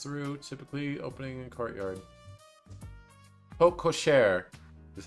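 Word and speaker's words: porte-cochère: vehicles to pass through typically opening in Courtyard PO kosare is how it's pronounced okay like at an airport the St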